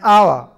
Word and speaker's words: hour: orange an umbrella an hour an honest man and air it will be noticed that the words our honest begin with a vowel sound as the initial consonant H is not pronounced before a word beginning